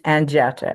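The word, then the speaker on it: Anjeta: Is it Anji or is it It's my my my birth name is Anetta. A N J E T A. Nobody can pronounce it.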